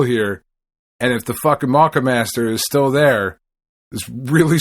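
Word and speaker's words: Moccamaster: I've heard it pronounced the Maka Master, and I've heard it pronounced the Mocha Master. It's Mocca. So to me, that is Maka Master.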